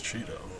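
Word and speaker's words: Cheato: It's his name, Cheeto. It's spelled C-H-E-A-T-O, but his name is Cheeto.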